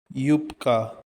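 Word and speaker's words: юбка: Yupka. Ya, ya. Yablaka. Stress is on the first syllable.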